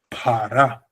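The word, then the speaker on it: פרע: It has a dagesh, so it's p. And then it has a long A at the bottom. It's two long A sounds, so it's para. Exactly like you said it.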